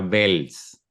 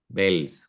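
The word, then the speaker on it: Wels: hay una pequeña diferencia se pronuncia como la v del inglés parecido parecido es casi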